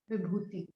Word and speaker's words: Vibhuti: So Vibhuti, you can spell it as VIBHOOTI. Vibhuti.